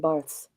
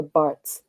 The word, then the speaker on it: Barthes: I'm going to say Theodore Adorno and Roland Barthes or Barthes, depending upon where you are in the world and how you pronounce it.